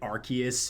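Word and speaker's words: Arceus: Well, if they say Arus when they literally pronounced when they literally pronounced it Archus in like the the Pokemon presents for for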